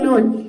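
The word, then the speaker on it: noon: जैसे कि देखिए ये जितने सारे वर्ड्स है इसको हम थोड़ा जोड़ देकर प्रोनाउंस करेंगे ओ की मात्रा। जैसे कि देखिए यहाँ पे है नून, इसमें डबल ओ एक साथ आया है तो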